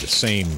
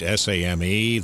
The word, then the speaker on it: same: the name is spud same spud same that's not right s AME that silent e at the end makes it same s am Sam spud I was working